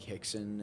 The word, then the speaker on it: Rickson: you have kids like hixson and jesse uh whatever just keep going why not it's rickson but it's fine it's taken yeah the r the r is silent it's portuguese yeah what it takes